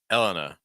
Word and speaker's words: Elena: second syllable Ivanka and Elena Elena stress the first syllable generally okay Elena Elena you